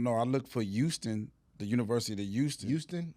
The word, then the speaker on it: Houston: University of Houston. How do you spell it? You know how to spell Houston. I'm just saying. But you just missing the H every time you say it.